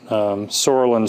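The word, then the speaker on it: psoralen: And you may have heard the term PUVA, that's oxorolin, sorolin spelled with a P, and the UVA, and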